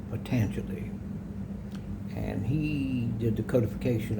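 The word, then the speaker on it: Patanjali: His name was it looks like pan jelly but it's actually pronounced patangi.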